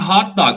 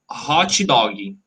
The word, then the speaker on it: hot dog: about a car okay it's like a hot dog you know people people used to say people usually say hearty doggy with a t very strong and a g very strong hearty doggy no it's hot dog it's very weak that's how okay we